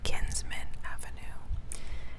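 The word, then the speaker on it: Kinsman Avenue: i think it's pronounced i think it's pronounced the kinsmen avenue k i n s m a n so where did she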